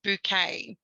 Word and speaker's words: Bucket: the first one is the surname bucket is repeatedly pronounced by heiken yeah as bouquet you can tell i